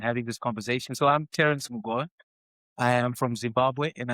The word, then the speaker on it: Terrence Mugova: And today I am joined by Terrence Mugova.